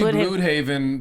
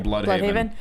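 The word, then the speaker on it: Blüdhaven: lives blood BL Haven it's supposed to be BL Haven but everyone kept mispronouncing it so it became blood Haven uh that would be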